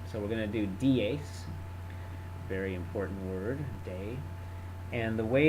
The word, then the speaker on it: dies: So the nominative is dies, and then and it's actually a long E there, should be. And then the plural is exactly like the singular.